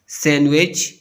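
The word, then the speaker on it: sandwich: Silent D, डी इज not pronounce in the following common words: handkerchief, सैंडविच, Wednesday. इन अल्फाज में D pronounce नहीं होता।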